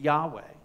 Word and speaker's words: YHWH: YHWH. That's the name Yahweh. But when it's read aloud in the synagogue, it's never pronounced.